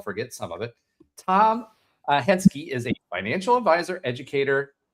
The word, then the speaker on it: Henske: So, welcome to the stage, without further ado, Tom and I'm going to Is it Henschke?